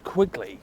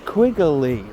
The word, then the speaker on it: Quigley: I get told off for calling him Quigley because his name is Quigley, 2 syllables, right? And why do you call him Quigley? Quigley, like it's 3 syllables? I don't know, I just like it.